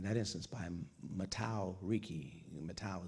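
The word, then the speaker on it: Mateus: Matau is the Portuguese pronunciation of Matthew.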